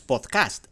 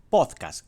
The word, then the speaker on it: pódcast: si se sorprende porque no es podcast es podcast con la acentuación o la parte tónica donde ponemos la fuerza en pot no en cast podcast así que si